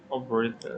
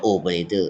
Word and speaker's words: operator: operator Yeah. Many Thai people say operator คนไทยชอบอ่านว่า operator ใช่ครับ but in English we say operator not op tour operator.